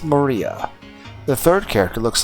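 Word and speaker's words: 真里亞: Of course, it's pronounced Maria.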